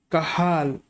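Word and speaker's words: Cajal: kahal please remember this interstitial cells of kahal jay is silent here industrial cells of kahal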